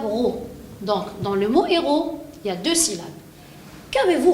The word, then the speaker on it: héros: et comme le mot héros et m masculin d'accord je lui mets le très bien deuxième particularité de ce monde il ya à la fin le s muet quand ne prononce pas pourtant ce mot-là est